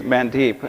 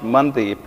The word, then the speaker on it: Mandeep: So my name is spelled, it literally, when you read it, it reads Mandeep. It's actually pronounced Mandeep, and the way you'll spell that is M-U-N-T-H-E-E-P, which means lantern of the heart.